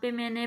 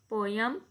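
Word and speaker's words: poem: यहाँ पे मैंने पोम का लफ्ज़ यूज़ किया है। पोम जो है वो अमेरिकन प्रोनाउंसिएशन में कहा जाता है और पोयम हम कहते हैं ब्रिटिश में।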